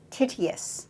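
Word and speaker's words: Tityus: a Prometheus but of another figure related figure titty asst is that the pronunciation yes is there I tell us about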